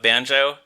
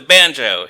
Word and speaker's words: banjo: line, you with the banjo. And I've always loved the way that he emphasizes the second syllable of banjo. He doesn't say you with the banjo.